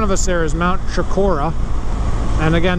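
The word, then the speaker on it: Chocorua: That is right above it, right in front of us there, is Mount Shakora. And again, there's another alternate pronunciation. People say Chikoroa or something like that. I don't know. It's Chikora, and this is the Kangamangus, okay?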